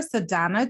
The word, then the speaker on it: Sadhana: Sadhana. And I'm sorry, did I pronounce?